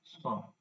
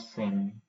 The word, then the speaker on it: cent: T is silent, song, Yeah. and N is nasal. Even it is not sen or Yeah. sent or something, it's song. N is nasal and T is completely silent.